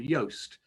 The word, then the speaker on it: Yoast: very similar plugin called yoast which is spelt like toast but with a y at the start um and yoast has